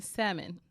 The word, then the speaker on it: salmon: How are you gonna order the salmon? Oh, Can I damn. get the salmon? Oh, I hate people who pronounce the L in And you salmon.